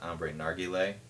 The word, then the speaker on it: Ambre Narguile: Probably not because of the reflection, but it is Ambre Narguile, or I've also heard it pronounced Ambre Narguile.